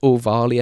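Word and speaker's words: Ohvale: It's O'Varley, I think you pronounce it.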